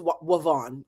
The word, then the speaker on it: Ivonne: You know how to pronounce Ivonne. It is Wavon.